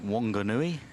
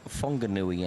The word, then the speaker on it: Whanganui: That WH in New Zealand, in actual fact, they pronounce it Whanganui, and Whangarei is another town.